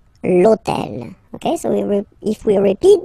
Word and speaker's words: l'hôtel: starts with h, but remember that in French we don't pronounce h, okay? So basically the first sound of the word is the vowel o, okay? So for the same reason, e needs to disappear, l'hôtel, okay?